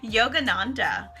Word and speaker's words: Yogananda: you can goggle haha Yogananda literally spelled like yoga and nan de na in D a Yogananda Paramahansa Yogananda but